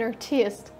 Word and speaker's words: artist: чтобы подчеркнуть свою значимость, иногда могут поставить ударение в слове artist на второй слог, и тогда слово получается совсем как русский вариант. I'm an artist.